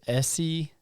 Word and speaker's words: Essie: Yeah, it's Essie, Yeah. which is short for Esther Okay.